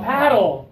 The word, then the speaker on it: paddle: she's doing it right she's opening up for this one a a like after and back and snack we already used as